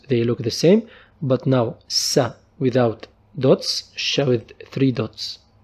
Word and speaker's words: س: Our next letter is sa. Sa. It's pronounced like S in sad.